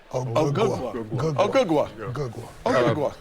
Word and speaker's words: Anunoby: Wait, you're not saying it right. If you don't say it right, we can't say it. no, no. Just You're not saying it right. OG Anunoby.